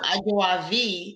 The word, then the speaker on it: Ajawavi: but it means second so aguavi is the um right pronunciation of my name which means second born